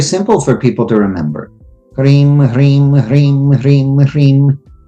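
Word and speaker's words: ह्रीं: Hrim, Hrim, Hrim, Hrim, Hrim. But this is one syllable.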